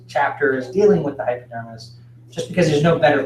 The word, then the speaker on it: hypodermis: a region called the hypodermis and I'm kind of stressing the hypo part of that pronunciation which is down here